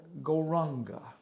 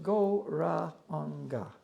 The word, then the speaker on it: Gauranga: Now this mantra we'll use for this meditation is called Gauranga. Мантру для этой медитации мы будем использовать мантру Горанга. Divided into 4 syllables, Gauranga.